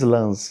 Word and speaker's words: Lens: Você estava lá na França, Lens, como é que a gente pronuncia Pronuncia em francês Lens. Lens. Mas é Lens.